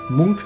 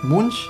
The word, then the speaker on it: Munch: Schrei hier von ETW Munk Munch Munk ich glaube Munk wird ausgesprochen ne so noch ein